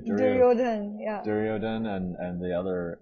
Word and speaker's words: Duryodhana: everything away to the piece of shit guy, Duryodhana. Duryodhan. Is that how you pronounce his name? Duryodhan, yeah.